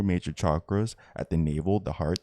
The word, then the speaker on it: chakras: Here in the most ancient of spiritual texts, the Tantras speak of psychic centers known as chakras, pronounced chakras, which exist in the energy field around our bodies.